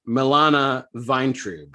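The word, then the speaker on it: Milana Vayntrub: So per her Twitter, it's pronounced Milana Vine.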